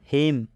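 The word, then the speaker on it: hymn: हिम, हिम में एम के बाद एन आया है, तो जब भी एम के बाद एन आता है तो एन साइलेंट हो जाता है, मतलब इस एन का उच्चारण नहीं करना है।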